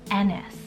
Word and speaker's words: Ennis: and that's the name ennis spelled e-n-n-i-s so it's almost like those you know vintage names dennis and just remove the d ns i have seen